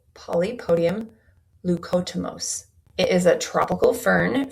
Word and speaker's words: Polypodium leucotomos: And I'm going to try and pronounce this correctly, but the supplement is called Polypodium leucotomos.